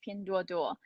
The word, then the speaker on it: Pinduoduo: PDD in the full pronunciation, and Dina did a pretty good job, is Pinduoduo. Right, so Pinduoduo in English,